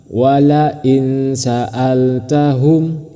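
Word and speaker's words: ولئن سألتهم: Diingat cara membacanya harus samar dan berdengung. Walain sa'altahum seperti itu. Bukan dibaca wala in sa'altahum itu salah. Tapi yang benar walain sa'altahum.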